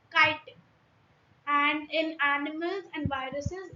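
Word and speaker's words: chitin: Many children including me if I tell you so many of us pronounce as chittin. Uh at first when I read this I was also pronouncing it as chittin but it's not chitten it's kiten and in animals and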